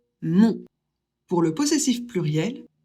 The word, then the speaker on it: mon: O et N, ça fait on. Donc, on prononce le possessif masculin de je, mon.